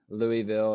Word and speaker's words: Louisville: the way he said that you know everyone mispronounces uh Louisville or we call it Louisville here so oh